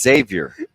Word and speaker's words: Xavier: not gonna answer you because you said Xavier Xavier well I would have said it right if I could have done it like three minutes ago it's Xavier it was a z with a z yeah okay what was